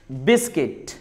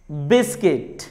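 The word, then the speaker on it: biscuit: अगर letter you के बाद आई आ जाए तो लेटर यू साइलेंट होता है. जैसे बिस्किट, बिस्किट.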